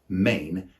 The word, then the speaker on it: mane: For example, he's a main character in the plot, or what's your main objective, which has the same pronunciation as the word mane, M-A-N-E.